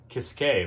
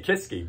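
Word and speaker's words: Kiske: like halloween well then you would like michael kiskay that's how you pronounce this game okay kiss k or how do you say it i say kisky but apparently i've been saying it wrong kisque tomato tomato right basically he's the lead singer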